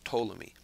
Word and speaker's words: Ptolemy: The P is silent. It's pronounced Tammy.